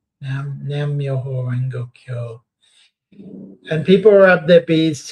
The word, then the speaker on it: Nam Myoho Renge Kyo: And I'm trying to remember the Nam, how do you pronounce this? Nam Myoho Renge Kyo. Nam Myoho Renge Kyo.